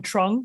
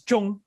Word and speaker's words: Trung: show they call me trung so the vietnamese pronunciation is chong i had no idea until i moved to vietnam 25.